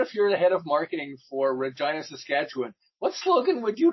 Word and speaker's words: Regina: of going to Regina but Regina it rhymes with fun after two years they